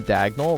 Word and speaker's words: Dagnel: when someone said that my name diagonal rhymes with Colorado and I actually think